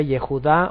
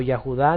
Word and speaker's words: Yehuda: yud d y he que se pronuncia yehuda o yahuda dependiendo yahuda según gramaticalmente cuando